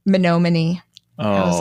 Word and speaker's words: Menominee: Craig didn't tell anyone, but eventually reached out to Finding Bigfoot, and the crew headed up to the mispronounced Menominee, Michigan. Oh, no. Menominee.